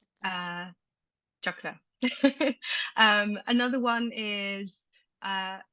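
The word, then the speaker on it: चक्र: sound it's it's like uh so it's like chakra uh chakra um another one is uh the goddess Sagi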